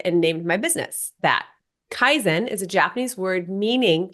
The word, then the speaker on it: Kaizen: got so excited and named my business that Kaizen is a Japanese word meaning continual Improvement so